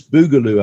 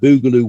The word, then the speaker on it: Boogaloo: Now, as I understand it, this Boogaloo outfit, is that the right pronunciation? Boogaloo?